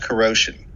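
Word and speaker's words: kuro5hin: for a website called corrosion spelled k-u-r-o digit 5 h-i-n meant to be pronounced like the word corrosion because the site's founder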